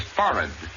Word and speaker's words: forehead: tablecloth the word is foreign accent definitely on the first syllable and the h is not pronounced three around his abdomen